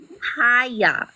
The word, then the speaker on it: Kaya: Kaya. Kaya? Yeah, have you ever heard the Bob Marley song? It's an album too.